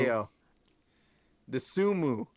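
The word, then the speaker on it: Ayo Dosunmu: Illinois came out even and without Ayo Disabuye, or is that how you pronounce it? I don't Io know. I don't know. Desunmu. Ayo Desumu.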